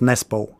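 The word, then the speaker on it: Nesbø: one for every country in England it's normally just nespo so I I I do remember the English one but how do you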